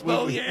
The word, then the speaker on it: Beaullieu: Hey everybody, with me today is State Representative Beaullieu, District Number 48. Representative, thank you so much. Nice to see you. At some point, I'm going to get him to pronounce Beaullieu correctly, but It's Beaullieu.